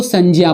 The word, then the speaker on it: संज्ञा: संज्ञा ये जो लिखा जाता है इसको हम लोग गलतीवश ज्ञा पढ़ देते हैं, लेकिन इसका उच्चारण ज्ञा ना करके ज्या करते हैं, क्योंकि जा धन इया, जा और इया के मिलने से, इन दोनों के मिलने से इस ज्या शब्द का निर्माण होता है। इसीलिए इसका सही उच्चारण और शुद्ध उच्चारण ज्ञाना होकर के ज्या होता है। इसीलिए इसको संज्ञा पढ़ेंगे।